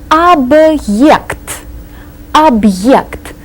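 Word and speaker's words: объект: this word AB object see the hard sign right in the middle so we have to pronounce this as if it were two separate words AB AB the hard sign is a word divider object an object any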